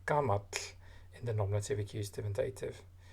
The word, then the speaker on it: gamalli: So gamalli, and again pronounced with a T insertion.